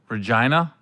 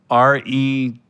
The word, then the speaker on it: Regina: Regina. If you could spell it in a sentence, please. R-E-G-I-N-A.